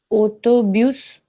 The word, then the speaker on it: autobus: Uh autobus. Autobus, that is correct. S is pronounced here, s is skipped here.